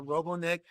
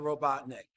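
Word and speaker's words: Robotnik: you say things correctly I apologize for pronouncing it Dr robon neck instead of Dr robotnick please forgive me America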